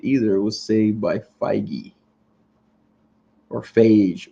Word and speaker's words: Feige: It was saved by Feige. Or Phage. We're going to call him Phage because I'm going to make it rhyme with beige.